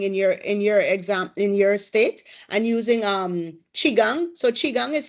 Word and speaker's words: qigong: Rashida, as cupping in your state, and using qigong. So qigong is spelled QI, then space GONG.